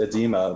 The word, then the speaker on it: oedema: It's just edema with the front O. A lot of Scrabble players like to pronounce those front O's because it helps them remember how the word is spelled. Like esophagus would take a front O. It's the relic from British spelling of words. The O is really silent, but instead Michael's going